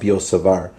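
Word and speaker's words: Biot–Savart: about the law of biot-savart I don't think you pronounce the T actually it's the law of biot-savart or the magnetic field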